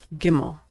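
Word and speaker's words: גימל: Gimmel is pronounced G as in good. Never like in general, always like in good. Like most letters, it's pronounced the same whether there's a dot inside or not. Gimmel.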